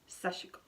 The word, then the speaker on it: sashiko: am anyhow sashiko sashiko you don't actually pronounce the I in in the Japanese I believe it's sashiko sashiko and anyways all right